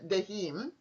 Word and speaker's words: Daheim: future travelers, and her name is Cornelia Daheim. Am I pronouncing it correctly? Yes, you are.